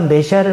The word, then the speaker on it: 메시아: 우리가 메시아를 만났다 그랬습니다. 확신의 참 어둡니다. 메시아 영어식 발음입니다. 원래는 히브리 말이에요.